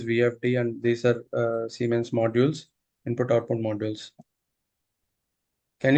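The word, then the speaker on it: Siemens: I've seen something like semens.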